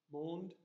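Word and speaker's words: monde: scat how do you say world in French moaned mo ND e there so that's so we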